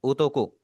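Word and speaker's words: 男: ओ आप इसे पढ़ेंगे। जैसे इंग्लिश में पढ़ा जाता है। काफी आसान सा है। बोर्ड के अंदर जैसी आपकी ओ की आवाज़ आ रही है। बिल्कुल इस तरह आप इसे प्रोनाउंस करेंगे।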